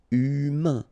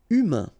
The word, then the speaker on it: humain: Remember, H doesn't exist. So U, then A-I-N together. Un. Humain. Humain.